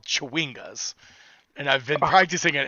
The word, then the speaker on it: chwinga: They're called Chewingas.